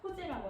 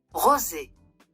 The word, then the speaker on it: rosé: 그리고 프랑스어에서 R은 사실 히읗 발음이 나거든요. 그래서 정말 정석대로 발음을 하면 네. 로제가 아니라 호제라고 하는 게 맞는 거죠. Rosé.